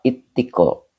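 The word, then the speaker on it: اتقاء: Ittiko, ittiko. Ini bacanya ittiko, pakai tasdid Pak. Karena wajahnya ifta'ala yafta'ilu ifti'alun.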